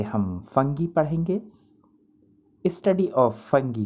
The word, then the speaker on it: fungi: ये लफ्ज़ फंगी, इसको आप फंजाई या फंगाई भी प्रोनाउंस कर सकते हैं, लेकिन बेहतर यही होगा फंगी।